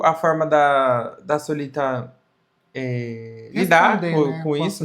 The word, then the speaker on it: Solita: Primeiro é Gordon, depois ela me chamou de Solitá. Gente, meu nome é Solita.